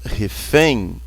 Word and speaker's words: refém: A palavra refém, a sílaba tônica é o em.